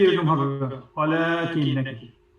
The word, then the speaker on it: ولكن: ওয়ালাকিন নাকি? ওয়ালাকিন, জাস্ট একালিফের যে রেগুলার টান আ ওয়ালাকিন। ওয়ালাকিন বেশি লম্বা করার দরকার নেই, ওয়ালা বেশি দরকার নেই, রেগুলার।